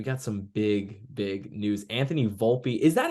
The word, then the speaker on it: Volpe: Anthony Volpe, is that how you say it? I've heard people say Yes. Volpe. I thought it was Volpe. It's Volpe, right? Yes, it is.